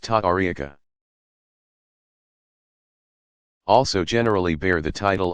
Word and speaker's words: tariqa: Spiritual guides of the various Sufi organizations called orders or paths, tariqa, pronounced ta'ariqa, also generally bear the title of sheikh or its Persian equivalent, pir, pronounced pir.